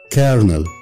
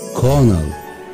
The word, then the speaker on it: colonel: نمبر 3 الراجل اللي قدامنا ده المفروض ان هو كولونيل، لكن الكلمه اللي قدامنا دي مش بنقولها كولونيل، دي بالامريكان كارنل، كارنل كارنل بالبريتش كونل، كونل كونل امريكان كارنل بالبريتش كونل.